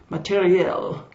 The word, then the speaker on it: matériel: I prefer the French pronunciation, or more or less anyway, matériel, as in men and materiel.